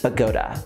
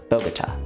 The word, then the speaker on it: Bogotá: which is the- You said it right this time. I said it right. I'm learning. Bogota, Bogota, Bogota, Bogota. It's been Bogota from the beginning. Bogota. And we finally got him saying it right.